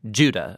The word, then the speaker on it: Judah: Jude or more accurately Judah according to the pronunciation of his name both in Greek and in Hebrew judo is one of